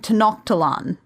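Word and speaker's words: Tenochtitlan: not Roman eyes well I grew up hearing to knock to lon but they pronounce it to not cheat lon in this so I don't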